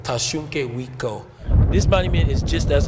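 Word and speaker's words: Tȟašúŋke Witkó: So in our language, we say Tashunke Witko. Tashunke Witko.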